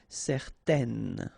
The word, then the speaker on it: certaine: Okay, so it's nasal in your nose, un. Okay, if you add this at the end, then it will change the thing, and then you will pronounce it n.